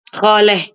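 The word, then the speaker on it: خاله: Khaleh. Khalatun kan. Oh iya. Heeh. Khatun bacanya khaleh.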